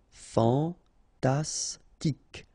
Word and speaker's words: fantastique: Fantastique, okay, Q-U-E at the end, K, okay, tic. Fantastique, fantastique.